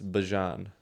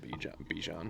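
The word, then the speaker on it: Bijan: It's Bjon. Yeah. Still calling him Bjan. Oh. 110% everyone is. Yeah. Yoyo Bjan. Yeah. It's like the mustard.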